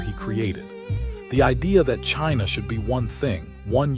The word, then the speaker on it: Qin: The idea that China should be one thing, one unified state, is his idea. Even the name survived. Qin, pronounced Chin, is widely believed to